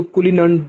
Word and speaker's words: Cullinan: तो दुनिया का सबसे बड़ा डायमंड जो है जिसको कुलिनन डायमंड बोलते हैं, वो भी साउथ अफ्रीका से ही दरियाफ्त हुआ था। वो पूछ रहा था कुलिनन डायमंड, स्पेलिंग आप इसके नोट कर लें, CULLINAN, कुलिनन डायमंड, ठीक है।